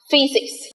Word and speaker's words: physics: Có thể đọc là y, y là âm y ngắn đấy ạ. Ví dụ như trong các từ, cái môn học trên lớp của chúng ta, physics. Physics. Okay.